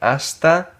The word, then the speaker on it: hasta: Hasta, again, the H that is silent.